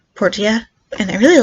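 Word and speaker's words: Portia: lot today yesterday is my time in Porsche or Portilla I keep pulling at Porsche I don't know why but the characters in the game pronounce it Portilla and I really like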